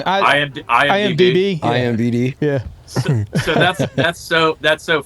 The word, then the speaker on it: IMDb: I just wanted to know if you updated that IDBM. Is it IDBM? How am I saying it wrong? IMDb.